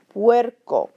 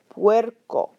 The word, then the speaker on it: puerco: However, be aware that when you have a combination of U and E next to each other in a word, they will make that W sound. Because U and A, when you flow them together, you get that W. Okay, like this word, puerco, puerco. I'm saying the U and the A real fast.